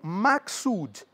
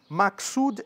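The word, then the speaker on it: maksud: Pemba é a metáfora inicial e as outras duas linhas, a terceira e quarta, formam o maxood. Maxud é M, A, K, S, U, D, que são o significado, a mensagem principal daquela quadra.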